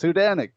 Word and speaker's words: Hudanik: Nobody could figure out how to say his name. People were saying all kinds of things, and I was like, "No, look, it says Hudanik," and I was right.